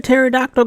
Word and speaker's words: pterodactyl: why can't you hear a pterodactyl go to the bathroom because the pee is silent freaking hell that's a